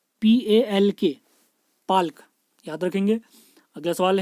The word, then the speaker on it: Palk: इसकी अगर इंग्लिश में स्पेलिंग बताई जाए तो ये है PALK, पाल्क, याद रखेंगे।